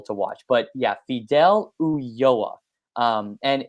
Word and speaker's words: Ulloa: Ulloa, spelled Ulloa.